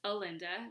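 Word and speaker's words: Alynda: And the songwriter's name is Alinda, rhymes with Melinda, which is kind of fun.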